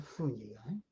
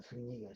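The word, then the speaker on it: Zuñiga: No Zúñiga, sino Zúñiga, sin acento en la U. Al menos no está puesto.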